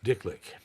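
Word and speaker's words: Dichlich: Dicklick." Dicklick. And Dave fell through a glass coffee table laughing. Yeah. Oh, yeah. He went through the table. Yeah. Dicklick.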